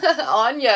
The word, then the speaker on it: Anya: Anya is how it's pronounced.